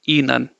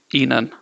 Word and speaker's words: ihnen: Say none and then say alphabet E before that. E none. Okay, E none.